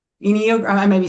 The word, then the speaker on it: Enneagram: I said it wrong. Genuine. It's Enneagram with the E. Enneagram.